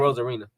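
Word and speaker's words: Arozarena: I am not gonna be able to pronounce Randy's last name. Rosarina.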